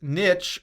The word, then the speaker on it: niche: It's niche, like the same pronunciation as the B word. One. There's two. You can actually say niche or niche.